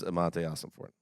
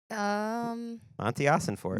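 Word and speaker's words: Monti Ossenfort: Colleen is Amante Ossenfort. Okay. Is that how you pronounce it? Mossy? Monty Ossenfort.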